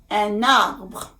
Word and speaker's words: un arbre: Arbre starts with a vowel, which is the vowel A. un, when you pronounce un, it sounds like a vowel. So it would really sound strange if you say un arbre, and it's very hard to do that.